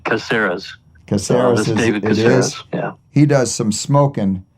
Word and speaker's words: Caceres: first started working together we had to decide whether it was going to be casares or caceres he's got two an uncle and a grant to follow the business and so they he pronounced it like they did caseras yeah he does some